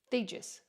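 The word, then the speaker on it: Thijs: fiegis i'm sorry i theejus t-h-i-j-s sounds like these for me so if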